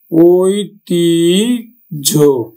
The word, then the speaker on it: ঐতিহ্য: আমরা উচ্চারণ করবো কিন্তু দাজ ঝ আমরা উচ্চারণ করব কিন্তু দাঝ দাঝ তারপরে দেখো আরো উচ্চারণ ঐতিহ্য ঐতিঝ তাহলে আমরা অন্তটা কি করব?